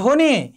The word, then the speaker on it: ধ্বনি: যেমন ধরো ধ্বনি, এখানে ব ফলার উচ্চারণ হয়নি।